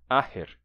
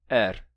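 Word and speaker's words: athair: Esse TH também se relaxou e hoje eles dizem aher, tá? Esse TH ficou só com som de h, aher, aher. E isso que ainda tem um sotaque em que não se pronuncia nem esse h do meio. E para dizer essa palavra, eles dizem só er. Assim, er.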